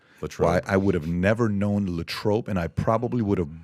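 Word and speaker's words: Latrobe: is from L I would have never known lat tro and I probably would have butchered how to pronounce it if you wouldn't have first said lat trro I would have said lob yeah I would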